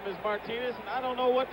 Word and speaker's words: Martinez: we're told that the absolute correctness of the pronunciation is martinez right field may set three to two paul